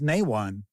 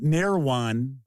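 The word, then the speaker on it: Nehwon: did you just say nwan it is it's nwan that's that is the pronunciation so it is not near onean it's Nan C bolts is that really the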